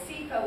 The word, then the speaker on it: SEFA: And it's SEFA with a long E and a soft A.